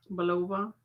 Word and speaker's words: Bulova: it right below but you can't say Massachusetts Bulova this is a quartz time date watch now